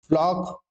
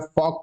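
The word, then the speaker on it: flock: फ्लॉक जिसे आप वास्तव में एल साइलेंट होता है। फोक कहते हैं।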